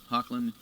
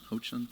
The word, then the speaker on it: Hoechlin: Hoechlin. Hoechlin. Tyler Hoechlin. I know, it's spelled H-O-E.